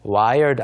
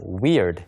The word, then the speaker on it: weird: 그리고 세 번째가 있는데 wired 아닙니다 weird 이상한 또는 뭐 괴상한이란